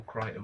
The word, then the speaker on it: Crichton: see another suave uh based on the michael crichton book and actually michael crying is it michael